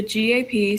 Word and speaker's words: gap: And say gap size, you don't say GAP.